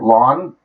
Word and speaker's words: ln: okay long story short this Ln right here lawn refers to a natural logarithm it's pronounced lawn like your front lawn go water the lawn go mow the lawn and uh it's actually